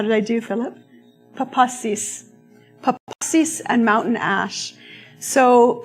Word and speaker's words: papasis: front of me as I try to correctly pronounce the word. Papasis? How did I do, Philip? Papasis.